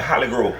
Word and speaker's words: Hollygrove: Skip, we in there, Hollygrove.